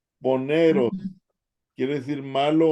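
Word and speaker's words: πονηρός: Ovepos, Poneros. poneros. Poneros, ¿verdad? Porque la B de Victoria es una N, ¿verdad? Ah, es cierto. Y Poneros. la N es una E. Poneros, Ujú, quiere decir malo o malvado.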